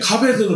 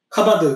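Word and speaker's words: כָּבֵד: 이제 무겁다라고 하는 단어인데 카베드는 무겁다요? 카바드 그것도 네 그렇죠. 카바드 카베드 네. 카바드라고 하지 않고 카베드라고 하는 건 상태 동사, 형용사들은 이제 카베드라고 발음하는 거예요. 카바드라고 발음해도 됩니다.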